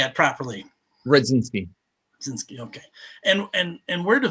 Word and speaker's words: Rudzinski: covering so how do you say it properly speed since okay and and where do people find you